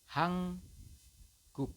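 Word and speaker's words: 한국: salah ya teman-teman ya bukan hanguk ya tetapi anda membacanya nya adalah dan membacnya adalah hang guk seperti itu ya hang G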